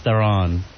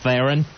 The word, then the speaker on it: Theron: My fantasy chick is Charlize Theron.